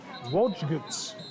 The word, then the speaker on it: Wojcicki: by number 18, Colin Joke Whisks. I butchered that name. You'll have to excuse me. It's Wojcicki, defensive back, senior for Birmingham Groves.